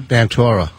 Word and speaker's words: Ventura: Ventura. Oh, he does. All right. Thank you. Yeah, he pronounces it Ventura.